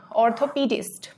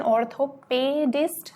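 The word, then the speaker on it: orthopedist: Next हो जाएगा ऑर्थोपीडिस्ट. फिर से इसकी प्रोनाउंसिएशन ऑर्थोपेडिस्ट नहीं होगी, पी, ये हो जाएगा ऑर्थोपीडिस्ट, यानी कि हड्डी रोग विशेषज्ञ.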